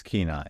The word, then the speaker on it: Kenai: I thought it was Kenai, how you would pronounce it. Kenai, I can confirm. You can confirm it's Kenai.